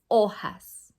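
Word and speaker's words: hojas: remember it has an h but the age is silent las ojas like the age is not there okay we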